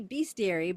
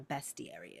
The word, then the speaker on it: bestiary: told me to be about how to properly pronounce something. I don't think that's going to work. It would make sense to be beastary because it's basically a collection of fantastical beasts. That's what a bestiary is.